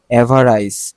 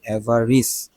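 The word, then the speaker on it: avarice: এভারাইস, এভারাইস মানে কি? আচ্ছা এটা একটু উচ্চারণটা দেখে নেই। এভারাইস হওয়ার কথা, এভারাইস। সরি, দেখছো আমি এভারাইস পড়তেছিলাম, কিন্তু এটা কি এভারিস।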